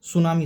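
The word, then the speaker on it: tsunami: सुनामी। सुनामी में T silent होता है।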